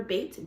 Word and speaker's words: Bate: My name is Bate, B-A-T-E. It rhymes with real estate.